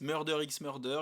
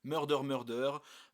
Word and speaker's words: Murder x Murder: Il y en a qui prononcent le X, Murder x Murder. Il y en a qui prononcent pas le X, Murder, Murder.